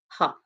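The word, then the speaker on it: Gogh: correct uh pronunciation yeah I can't even talk pronunciation is uh Vincent van ha okay I just don't believe in uh being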